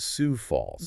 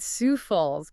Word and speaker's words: Sioux Falls: Today, we're digging into a fascinating document from Mayor Paul Tanhacken of Sou Falls, South Dakota. And just a reminder, it's pronounced Sou Falls, right? Sou Falls.